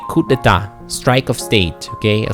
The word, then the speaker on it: coup: Uh it I I let me spell it. C O U P. Okay. Coupe. Uh it means strike. So we say coup deta.